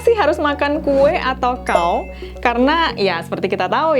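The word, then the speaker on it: 糕: Dimana kalau dalam konteks ini, pelafalan kue atau kao bunyinya persis dengan kao yang berarti tinggi.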